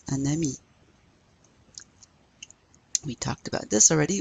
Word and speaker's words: un ami: But a friend, we would say un ami. Now you pronounce that N, un ami.